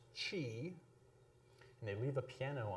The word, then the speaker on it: qi: QI, which most people will pronounce chi.